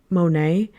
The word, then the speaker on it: Monheit: There's an artist here, Jane Monet, but her last name is spelled Monheit.